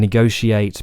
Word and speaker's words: negotiate: she at yeah and negotiate propitiate initiate all in Modern English should technically be pronounced with that sh sound sheate now if you're